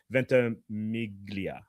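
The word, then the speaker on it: Ventimiglia: I didn't want to pronounce mispronounce his name but it's Milo Venta Miglia.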